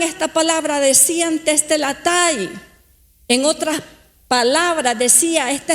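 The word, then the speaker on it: τετέλεσται: de la siguiente manera, se escribe y se pronuncia de la siguiente manera: tetelestai, tetelestai.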